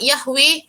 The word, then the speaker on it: Yahweh: So without Yahweh there will be no other creation in this universe. So kalau awak tengok madam, kalau baca buku lepas ni jumpa perkataan YHWH, the pronunciation is Yahweh.